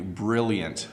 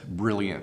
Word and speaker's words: brilliant: more time for you brilliant brilliant so make sure you the L's are a hard l sound don't pronounce it if you're French don't make it a y sound it's brilliant okay um next word